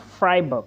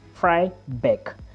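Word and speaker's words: Freiberg: located it is located in fybe not fry book there is fry book and there is fry bck now this one I'm talking about is spelled f r e i b e r g this is fry Beck now if you are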